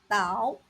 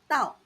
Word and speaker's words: 倒: This Chinese character has two common pronunciations: Dao, third tone, and Dao, fourth tone, each with distinct meanings.